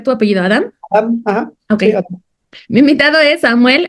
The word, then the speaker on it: Adam: Eh, mi invitado es es Samuel, pero ¿cómo debo pronunciar tu apellido? Adam. Adam.